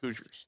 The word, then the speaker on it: Hoosiers: It's Hoosiers.